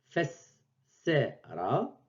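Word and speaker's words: فسّر: Donc, au lieu d'écrire fessera, fessera, donc ça c'est la prononciation correcte, on écrit fessera.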